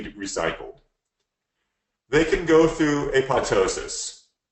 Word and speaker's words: apoptosis: they can go through apoptosis I know if spell apop but it's the second piece silent and all of us have been pronouncing wrong for a long time it plateaus us where